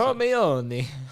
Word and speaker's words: Hermione: I didn't know Hermione was how you pronounce it. Hermione.